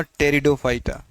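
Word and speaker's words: Pteridophyta: हैं उसे हमने कहा टेरिडोफाइटा देखिए यहां पर पी से लिखा है हमने लेकिन पढ़ेंगे टी से क्यों क्योंकि उसके पीछे का कारण है पी यहां पर क्या है साइलेंट है टेरिडोफाइटा इसको हिंदी में भी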